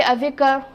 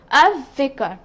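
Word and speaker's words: الذكر: say al vicker okay i will not say avika i will say a vicar lamb being silent and val having a the deed sign on top now we will move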